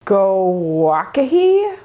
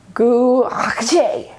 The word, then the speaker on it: gouache: Gouache. How many vowels does a word need? Public service announcement, it's gouache, gouache, gouache. We can thank the French because it is a French word.